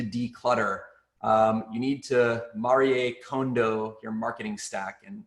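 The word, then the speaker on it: Marie Kondo: um you need to marie condo your marketing stack and yeah that's how you pronounce it i had to uh i was curious and had to look it up on reddit marie condo um so uh i've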